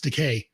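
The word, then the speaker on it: DeKay: he's like you know it's decay rhymes of gay i like the george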